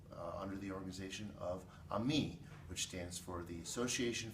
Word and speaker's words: AMIS: AM m i s we pronounce it the French way because we want kids to be friends through music we have 85 member